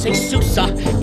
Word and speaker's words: SUSE: end of this song it's suicide don't let the name confuse you it starts with Sue and ends with suck now doesn't that amusia